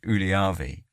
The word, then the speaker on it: Ylöjärvi: Uh a prime example would be the the the sort of township name is Ulavi. Well, that's how I would pronounce it. How how a real Finnish person would pronounce it. rolls a few Rs in there and has a bit of a almost like glottle stop as well and and so they're going to be slightly anglicized.